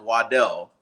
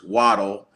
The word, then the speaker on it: Waddle: so it is true his original last name is pronounced Waddell but he prefers waddle I don't know if